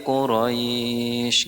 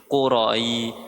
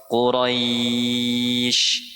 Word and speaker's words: Quraisy: Nah, biasanya kalau yang salah itu di ujung-ujungnya tuh qurai quroi quraisy. Nah, itu salah bacanya. Qura qura quraisy. Qura liilafi qura. Qura quraiyi. Bukan qura. Qura salah kalau qurai. Jadi seolah-olah ada i-nya. Ada huruf I e padahal enggak ada.